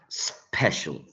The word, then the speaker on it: special: Special, special. So where do we find this sound? Special, special, special, right? In the second syllable, not in the first one. The first one is s. So second syllable.